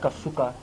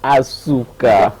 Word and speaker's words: Asuka: le monde bayiba Kasuka linga bana musique carrière na ye atambula boni alikana ba groupe boni ti lilo za wapi to Kasuka vivre non. Tu prononces mal mon nom, c'est Asuka. Asuka.